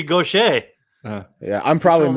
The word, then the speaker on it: Gaucher: They can't take Nathan Goucher. Yeah, Nathan. but Goucher does sound like a guy who just serves. Oh, he's French. It should be Gaucher.